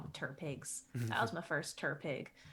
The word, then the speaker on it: TTRPG: We call them Turpigs. That was my first Turpig. Yep. Turpig. Turpig. I like to Yes.